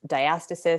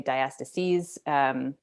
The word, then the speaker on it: diastasis: So diastasis, you may hear it pronounced diastasis. Some people say diastases.